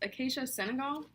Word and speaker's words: Acacia senegal: okay so I just checked and it's pronounced acacia Senegal so this is the 100% virgin coconut oil